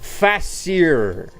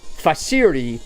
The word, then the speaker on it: facere: Facere. Facere. F-A-C-E-R-E. Facere. How do you pronounce that?